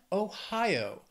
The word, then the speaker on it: Ohio: Dakota North Dakota then Ohio three syllables stresses on that second syllable Ohio Ohio let's just